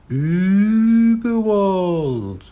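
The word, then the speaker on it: Überwald: Uberwald, he read out. That's Uberwald, said a small, squeaky, but very clear voice. The dots make it suck a long ooh sound, but you're doing very well. Uberwald.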